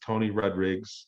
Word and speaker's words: Tony Rodrigues: The other thing you want to talk about, my name is Tony Rodrigues with an S, and that's the correct pronunciation. It's Portuguese. 7 greats ago, we were